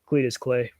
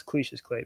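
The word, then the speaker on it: Cassius Clay: that way you know Cletus clay pronounce cliches clay my bad cliches clay you know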